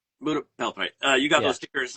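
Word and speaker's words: Pura Belpré: Well, you got you got Bel PRI. Is that how you say it? Bel Pria Belpri. Pura Belpri.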